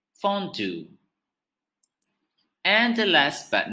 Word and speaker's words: fondue: dish is originated in switzerland and it is pronounced as fondue fondue and the last but not least is a